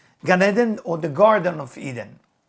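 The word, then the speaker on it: Gan Eden: will be clean enough to go and enjoy gun Eden gun is spelled g a n and Eden is e d n ganeden or the Garden of Eden now ganeden considered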